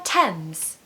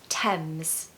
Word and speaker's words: Thames: four is the River Thames the River Thames the River Thames now I hear people saying Thames and tames but actually the H is silent so it's Thames I love getting off